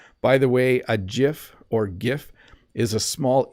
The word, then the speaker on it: GIF: it says that it's supposed to be GIF but I say GIF or GIF I think I say GIF I think that's what I say most often uh let's see here